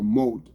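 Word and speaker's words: מוט: There's a moat. Like a, it's a moat. Like you say, M-O-T-E, moat. That's what it pronounced. That's what it's pronounced. It's spelled mot. M-O-T. But the pronunciation is M-O-T-E, moat.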